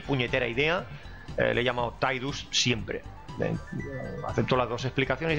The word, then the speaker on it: Tidus: ha salido es que la pronunciación correcta, según los creadores o uno de los implicados en el proyecto original, es Tidus, porque esto en japonés original se pronuncia algo así como Tida o algo parecido como esto. Entonces, pues, Sai sonaría Ti, no Tai.